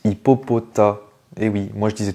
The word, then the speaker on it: Hippopotas: moi je disais toujours Hippopotas aussi mais non c'est Hippopotas c'est un mélange de hippopotame et de taas un gros tas voilà ça c'est le le S ne se prononce pas hippopota Pokémon suivant celui-ci